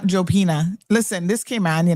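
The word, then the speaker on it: Jupiña: about, I want a Hopina, please, por favor. No, that would be the Spanish people. That, I mean, it is a Spanish name, but we don't pronounce it. We say Jopina.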